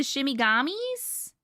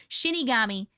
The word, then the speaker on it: Shinigami: The shimigamis? Am I saying it right? Shinigami.